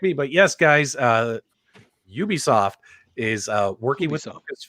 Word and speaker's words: Ubisoft: star wars nerd super excited to hear that ubisoft is going to be working with um with